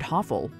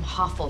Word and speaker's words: Hoffel: name is I am hoffel right I run this Hospital while her name rhymes with awful awful Isn't unsympathetic as